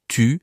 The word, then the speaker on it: tu: Et puis, il y a des sons, genre le U dans tu, c'est un vrai piège. Beaucoup de gens disent tu comme tout.